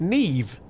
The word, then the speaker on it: Niamh: Is spelled Niamh. I'm not gonna even try that. I'm not. It's Neve. Neve.